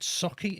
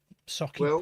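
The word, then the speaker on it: Sauchie: Is it Socky? Is that how you say it? I get in trouble for my accent as it is. Never mind pronouncing things wrong. Socky poltergeist.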